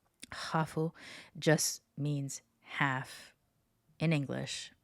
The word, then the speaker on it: hafu: The first word is hafu. Hafu was used by Kiyoto early on as a way of that other people are identifying them. And basically, it's just the English word half with a Japanese pronunciation.